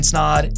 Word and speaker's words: Snaadt: My name is Snaadt. It rhymes with odd, and you're listening to the Rhymes with Odd podcast.